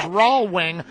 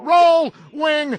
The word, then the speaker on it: Rohlwing: I think for a few years it was mispronounced by all those traffic reporters, Rawlwing, and that's how a lot of us heard it.